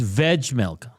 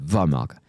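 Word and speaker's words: Vejmelka: So, it's Veg Mela. Apparently, you like that? Even though the league pronouncer, I just went into it for last year, had Valka.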